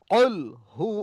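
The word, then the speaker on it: قُلْ هُوَ: শেষ প্রান্ত গোড়া একদম উপরের তালুর সঙ্গে লাগিয়ে কুলহু আল্লাহু আহাদ বলেন কহু আল্লাহু আহাদ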